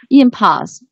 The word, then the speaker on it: impulse: Impulse. Yeah, this stress should be on the first syllable. Yeah, impulse, because it works as a noun in the context.